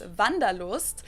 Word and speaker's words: Wanderlust: an old-fashioned German word that we pronounce van de l'Ouest von de Lewis literally the desire to